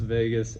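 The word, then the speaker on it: vagus: 10 the Vegas nerve yes I'm talking about Viva Las Vegas right here ever been to Vegas no me neither but it is pronounced Vegas and I use that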